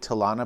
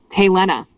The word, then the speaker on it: Tena: What's I was pronouncing it Tana, but I don't really care. That is Tena.